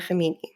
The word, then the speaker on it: Khamenei: I want to move into Ayatollah Khamenei. Oh, nice pronunciation.